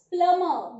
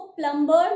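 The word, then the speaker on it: plumber: The correct pronunciation is प्लमर। वो जो हमारी टैप्स लगाता है बाथरूम की, किचन की, हम उसे प्लमर बोलते हैं, उसको प्लम्बर नहीं बोलते हैं। बी इज not used in the pronunciation part.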